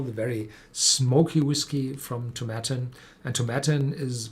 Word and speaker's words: Tomatin: cubacon as well the very smoky whiskey from tomatin and tibetan is pronounced as satin so not to matter that